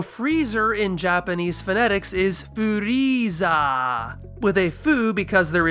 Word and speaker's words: Frieza: So, for the character's name, Toriyama simply chops off the last elongated vowel sound, changing furiza to furiza. That's a very minor modification, so returning this to English phonemes should be pretty simple. And it is. All the major English localizers agree, this is Frieza. Wait.